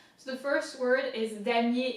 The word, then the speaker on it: damier: So damier, it's really easy. There's the first syllable, da, right? Da. Then for mier, I-E-R in French is ye, right? The M is pronounced normally. So damier, I-E-R, ye, damier.